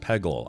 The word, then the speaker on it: Peggle: It's pronounced Pegle.